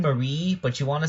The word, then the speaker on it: Marie: me to make the Squid Sisters, Callie and Mary from Splatoon, or Callie and Marie. How does it? Yeah, like you pronounce that name Marie, but you want to say Mary, so it rhymes with Callie better.